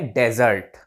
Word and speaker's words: desert: देखिए ये जो वर्ड है इसकी प्रोनाउंसिएशन होती है डेजर्ट।